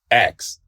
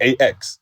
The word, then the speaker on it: ask: Like ask, like ask, like ASK. Yeah. Like I didn't know all my life that it wasn't pronounced X. Like I used to say it like AX.